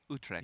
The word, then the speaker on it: Utrecht: Utrecht.